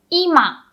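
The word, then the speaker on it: 今: say now in japanese we say ima hello ima if you say ima lo hai ima that means the same as living room so living room we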